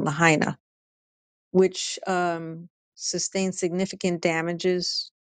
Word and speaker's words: Lahaina: we talked about that affluent city of Maui lahanai lot Lahaina excuse me I'm pronouncing it wrong Lahaina which um sustained significant damages from wildfires how